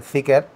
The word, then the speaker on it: Zeekr: que sabéis que es el Zeekr, o como dirían ellos, el Zika, más o menos.